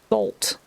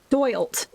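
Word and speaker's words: doylt: So we need D-O-Y-L-T. Dolt. Right? Is that how you pronounce that? Doilt. Okay. So I was pronouncing it wrong. It's doilt.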